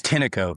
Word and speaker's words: Tineco: Tineco? How was it? Yeah, it's Tineco. Yeah, Tineco. Tineco.